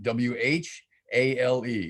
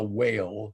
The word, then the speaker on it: whale: i've never forgotten is the proper pronunciation of the word whale the mammal that swims in the sea w-h-a-l-e it's not a whale it's a whale there's an h in there and it makes a difference so thank you for